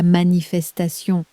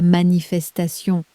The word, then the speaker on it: manifestation: You'll hear the English inside it, stretched over 5 elegant syllables. La manifestation. Your turn, lean on the last syllable. La manifestation.